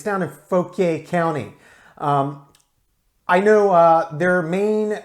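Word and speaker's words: Fauquier: down info PA or if you're from the local area they pronounce it folk here though the word is French fa u qu ie are folk yeah but it's down a folk a County I know their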